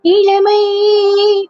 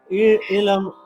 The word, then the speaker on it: இளமை: அந்த வார்த்தை நீ என்ன சொல்றனா, ஒரு மாதிரி அந்த ல வந்து எப்படி சொல்றனா, இட்ஸ் பிட்வீன் இல் அண்ட் ல. அது ரெண்டுக்கும் நடுவுல இருக்கு. இளம் ஒரு ஃபாரினர் பாடின அப்படியே இளமை பரிமா அந்த மாதிரி. சோ அந்த எழுத்தை வந்து அந்த ல அப்படிங்கிற ஒரு எழுத்தை கரெக்டா ஃபுல்லா ப்ரொனவுன்ஸ் பண்ணணும்.